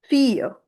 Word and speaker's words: fille: Therefore, the sound of i and e combine, and this whole word is pronounced as fille.